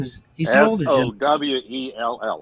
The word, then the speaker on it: Sowell: Sowell, like so well. So Sewell they pronounce it.